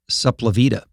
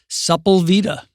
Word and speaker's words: Sepulveda: not of the town, but you were the first person I ever knew who pronounced it Supplavita. Sepulveda.